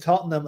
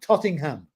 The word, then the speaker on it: Tottenham: No, the only way that came out a bit was when somebody pronounced Tottenham and Ozzy said, no, Tottingham.